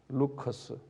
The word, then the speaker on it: Lycus: 루커스. 영어로는 LYCUS, 리커스인데 우리 발음은 루커스 계곡인데 이 계곡 안에 도시가 세 도시가 있어요.